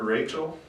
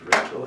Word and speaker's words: Rachel: Jacob begins to work for Laban and in return asks for Raquel, it's actually pronounced Rachel, in marriage and as his wages.